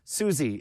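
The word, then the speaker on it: Suze: suie Susie she says suie it's suie suie Su my mom's like a huge she's like a Fang girl it's spelled s u Ze but she pronounces it Su she would devour suor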